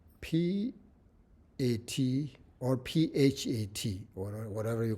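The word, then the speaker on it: PHAT: So when you say this syllable, P-A-T or P-H-A-T, or whatever you call pat, this syllable, The sound is sharp and sudden.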